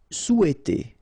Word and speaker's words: souhaiter: Souhaiter. So remember, in French we don't pronounce this H, okay?